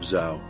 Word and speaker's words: Zau: This is the tale of Zhao. Yes, Zhao. His name is spelled Z-A-U.